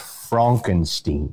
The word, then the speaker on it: Frankenstein: your character I've already forgotten it Fredick Frederick Frankenstein actually it's pronounced Frankenstein pardon me pardon me I stand corrected and